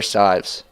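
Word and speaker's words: Cywes: hands of the goalkeeper claire sives hopefully i'm pronouncing that correctly it's spelled c-y-w-e-s a little tricky but i think i i think i got it flunted out to the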